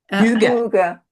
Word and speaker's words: Hygge: How do they pronounce Hygge? Huga.